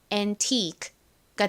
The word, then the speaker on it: antique: 가장 앞에 A가 아 또 무슨 소리 나죠?에 에, 에이, 어 등의 소리가 나죠.이 단어에서는에 소리로 쓰였습니다. 그리고에는 니은 소리 나죠. T는 티 소리 나고요. 아는이 소리. 그리고 가장 끝에 QU가 나왔는데 이건 덩어리로 소리를 기억해 주시면 됩니다. QUE는 어떤 소리가 나냐면 크리가 납니다. 크. 자, 그래서 천천히 읽으면 antique가 되는데요. antique이 끝에 소리가 워낙에 약하게 들리다 보니 이렇게 거의 받침처럼 들리죠.